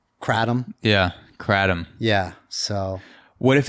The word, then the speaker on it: kratom: on me i mean you got two syllables the the second syllable is definitely tom you know adam so